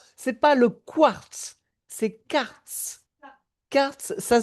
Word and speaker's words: karst: C'est pas le quartz, c'est quartz. Quartz, ça s'écrit K-A-R-S-T. C'est pas le quartz qui est Q-U. C'est pas la même chose.